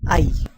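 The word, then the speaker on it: hay: with the word called ie you can pronounce it as I H remains silent and this is I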